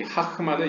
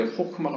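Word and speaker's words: חכמה: 여기서 지혜라는 것은 히브리어로 이제 호크마입니다. 이 하크마는 이제 약간 동유럽식 발음이고요. 이제 오늘날 히브리어적으로 이제 호크마가 맞습니다.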